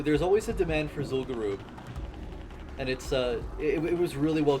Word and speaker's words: Zul'Gurub: It's not Garub. They actually pronounced it in one of those Cataclysm cinematics. It's Zul'Gurub.